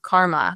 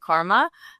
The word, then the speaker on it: KMR: And what I'll start by saying it's actually pronounced karma. So we spelled it without the a.